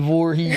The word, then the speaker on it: Voorhees: Jason who? Jason Voorhees. He had to repronounce Ain't that the the V.